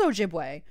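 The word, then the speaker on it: Ojibwe: okay so I was right so it is ojibway all right so I I got there I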